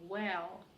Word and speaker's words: well: If you do very well, следите за произношением. Very. И потом уже W. Well. Да, на звуке W нужно губы делать, как на русское. А вот на very не нужно никаких very делать, потому что иначе получится изношенный вместо очень.